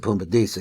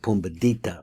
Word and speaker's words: Pumbedita: Now remember, I pronounce it Pumbedisa. He has it Pumbedita, which would be the same thing.